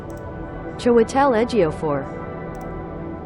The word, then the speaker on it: Chiwetel Ejiofor: ¿Cómo se pronuncia esto? Chiwetel Ejiofor.